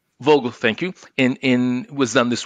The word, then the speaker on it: Vogtle: In order to facilitate that construction and to lower costs, for example, how do you pronounce it? Vogtle. Vogtle, thank you.